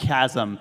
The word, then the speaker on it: chasm: It's pronounced chasm.